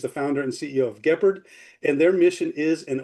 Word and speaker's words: Guépard: So the short story for that is we are actually French, and we used to start or like we started the company in France, and Guépard is the way we actually pronounce it, is actually cheetah in French.